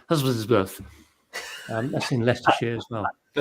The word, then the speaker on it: Husbands Bosworth: Championships held at, well, it's spelt Husbands Bosworth, but I understand people say Husbandsworth.